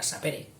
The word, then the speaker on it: sapere: Dice, saber, que viene del latín sapere, yo lo pronuncio esdrújula, habrá quien lo pronuncie llana, sapere, posiblemente fuera sapere.